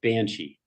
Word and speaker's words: Banshee: So today we're just dealing with you, and you want the Gaelic version, Banshidhe, Yes. easily pronounced Banshee.